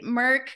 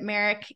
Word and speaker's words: Merck: All right, Merck, great insights. I had to say that one again because I think I pronounced it Merrick, and we know that